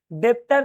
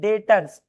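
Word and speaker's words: debtors: डेप्टर नहीं डेटर्स B silent है।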